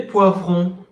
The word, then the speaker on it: poivron: C'est des poivrons. Il vous faut 500 grammes de poivrons. Oh, Johan, pauvre. Es poivron. Es una OI.